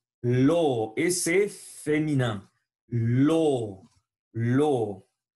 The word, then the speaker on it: l'eau: L'eau.